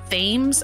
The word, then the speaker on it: Thames: taking it um so Mason Thames I think is how you say his last name famous Maybe t-h-a-m-e-s um who